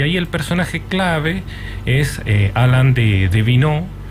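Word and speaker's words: Alain de Benoist: el personaje clave es Alan de vin se escribe de benoit la pueden buscar ahí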